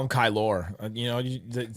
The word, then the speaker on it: Kylor: want to call him kylor you know spell it's spelled with an o r at the end Star Wars KY that's what it sounds like kylor Kelly kylo Ren Kelly actually I'm gonna call